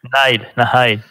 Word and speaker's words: Nihil: Ça se prononce Nile en anglais. Nile. Ouais. Nile, juste Nile.